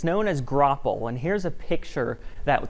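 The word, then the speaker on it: graupel: eventually that falls out of the sky as gropple g-r-a-u-p-e-l that's how you spell it and if you try to type it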